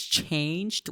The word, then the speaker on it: changed: It's changed with a long a sound.